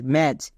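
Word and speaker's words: match: এর ক্ষেত্রে নিয়ম হচ্ছে টি এর পরে যদি সি এইচ থাকে তখন টি সাইলেন্ট মানে টি এর উচ্চারণ করতে হয় না যেমন এম এ টি সি এইচ ম্যাচ এখানে টি এর উচ্চারণ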